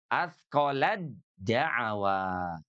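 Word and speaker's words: أثقلت دعوا: Atqolat dawa. Maka bacanya menjadi atqolad dawa.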